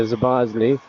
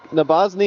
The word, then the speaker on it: Nabozny: It's saved by Zabozny. Yep, Nabozny is correct.